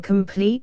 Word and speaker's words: complete: Masson 421 clad in complete steel I.E completely armed comp Hamlet I4 52 where the phrase occurs the accent is on the first syllable 422 quivered nymph the